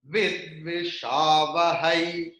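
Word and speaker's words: विद्विषावहै: So, how it will be pronounced? Like Bahai, I. So, when there will be double line on any letter, then what about the letter is? The last vowel will be prolonged, like Vidvishavahai, E.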